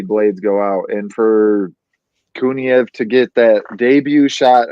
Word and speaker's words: Kuniev: How you pronounce that, Kyle? You're good. Kuniev. Kuniev. Yeah, you're correct. Kuniev, if he would have just been able to